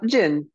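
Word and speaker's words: djinn: and ogres and um how do you pronounce the word is it dejin uh Jin Jin it sounds it sounds a lot like our Genie I mean okay okay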